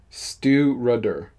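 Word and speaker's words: Stiùireadair: think it's peated oh it has the pronunciation here Stu rudder oh okay stewarder Stu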